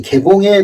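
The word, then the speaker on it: 開封: 이 카이펑이라고 읽는 이 개봉에 도읍을 했습니다.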